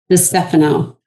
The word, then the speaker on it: DiStefano: Dphano. Dphano. I just didn't want to butcher it on live air. So, I appreciate you asking. we have Dphano.